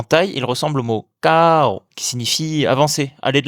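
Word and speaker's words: เก้า: Le 9 se prononce KO. La première lettre est entre un K et un G, et l'intonation démarre dans les aigus pour descendre vers les graves. KO. En thaï, il ressemble au mot KO, qui signifie avancer, aller de l'avant.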